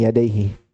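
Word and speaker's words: يديه: Hasan Amar karena idafah isim musanna ketika dia bersandar maka wajib hilang nunnya. Jadi takdirnya yadainihi ya cuman bersandar yada yadai ke damir maka hilang nunnya wajib. Jadi bacanya min baini yadaihi wala min khalfihi tanzilum min hakimin hamid.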